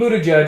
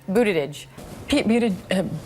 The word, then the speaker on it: Buttigieg: Pete Buttigieg is the mayor of South Bend, Indiana, and